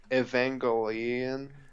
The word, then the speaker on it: Evangelion: We had to watch end of how you pronounce that again? Because now I'm all self conscious Uh, about it. Evangelion.